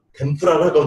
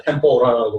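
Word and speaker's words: 天ぷら: 개발돼가지고 바삭바삭하게 하는 것이 일본말로 템프라라고 돼가지고 왔는데 미국 사람들, 유럽 사람들이 템프라 발음 못하니까 템포라라고 발음을 하는 거예요.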